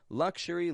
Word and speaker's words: luxury: As long as you don't make it luxury or luxury. It's got to have a zh or a sh.